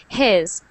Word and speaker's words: his: Try to relax your H. His. There you go. It's only air. Our H is only air.